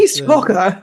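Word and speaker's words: East Coker: Eliot and some of his East Cocker or Cooker or whatever you pronounce it. It's East Cocker.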